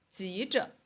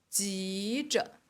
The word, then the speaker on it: 急着: ，着急，急着。哎，这个汉字是一样的，但是它们的发音不一样。着急，急着，着急或